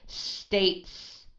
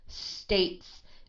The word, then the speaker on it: states: Okay, so go ahead and read it again and be extra careful when you read the word states. Okay, it's not state, but it's states.